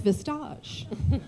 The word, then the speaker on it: Vistage: sponsor this morning and I prefer to pronounce it so it sounds like it's French and it's vistage sounds much better um and also uh